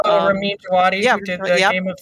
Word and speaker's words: Djawadi: So they had been with Javadi, I think is how he pronounces his name. Ramin Djawadi, who did the Game of Thrones.